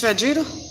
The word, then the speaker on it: Vegeta: about all these data nobody pronounce it right and it's vegeta look at that